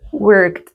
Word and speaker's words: worked: work pasado work listo tiene como una una t no work worked Entonces eso también lo